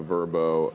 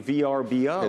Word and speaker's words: Vrbo: So Expedia, you pronounce it Vrbo. I do VRBO. It's Vrbo. You're behind the I'm times. I'm behind the times? Watch an ad, Andrew. Come on, man. I always say VRBO.